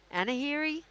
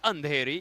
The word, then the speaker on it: Andheri: Anahiri? Where am I now? It's getting very late at night. Absolutely, it's Andheri. You're getting it Andheri. absolutely right. Dearest Jeanette, you're doing great. We're live at the Andheri Sports Complex here in Mumbai.